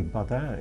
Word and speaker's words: Badin: it was simply called Badin or possibly badan if it should be pronounced in a French style the word means something